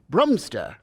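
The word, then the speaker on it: Bromstraw: spell it why sir the name is spelled b r o m s t r a w brumster that spells broom straw yeah even baby knows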